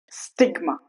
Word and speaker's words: stigma: See when I said when I pronounced paradigma, it's wrong. But when I say enigma, it's right. Stigma, it's right.